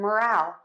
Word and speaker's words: moral: a word stress lesson so to say moral which means standards of behavior we are going to stress syllable number one and to say morale which is enthusiasm of a group we are going to stress syllable number two so we have moral